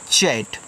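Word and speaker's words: chat: सी एच ए टी इसको पढ़ते हैं चैट। जब दो कंसोनेंट्स के बीच में आपका ए आए तो ए का उच्चारण आप ऐ की मात्रा के रूप में यहां पे करोगे।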